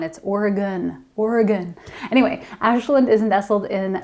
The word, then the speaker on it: Oregon: If you’ve seen “Siskiyou” in the books have you been like, “How do you pronounce that?” It’s kind of like it’s “Oregon”...it’s not “Or-eee-gone”, it’s “Or-y-gun”.